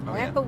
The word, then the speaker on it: Wayapa: So when I went to the, I need to pronounce it properly. I want a Wayapa work. Wayapa work is how you say it.